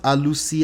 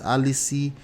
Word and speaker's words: Alusi: She mispronounced Alusi as Alici sarcastically.